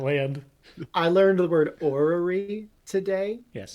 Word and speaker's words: orrery: I learned the word orrery today, Yes. which is spelled like the cluster of R's it sounds like.